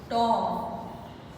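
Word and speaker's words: tomb: टॉम, इसमें भी B silent है, मैं अंडरलाइन कर देती हूँ इनको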